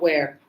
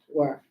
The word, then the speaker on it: were: Not where, were.